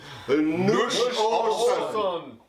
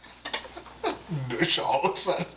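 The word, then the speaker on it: Nuş olsun: parentheses, is Nush Olson. Nush Olson. Olson, like their mercantile in Little House on the Prairie.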